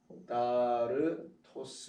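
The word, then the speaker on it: ἀκάθαρτος: 더러운은 아카달토스라고 해요. 아카다르토스 이렇게 되는데, 자, 아카다르토스 이렇게 발음합니다.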